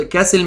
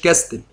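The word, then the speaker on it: castle: ات ذا ديوك اوف جلوشسترز كاسل، كاسل يا جماعه يعني قلعه، بتنطق كاسل مش كاستل، كاسل يعني قلعه.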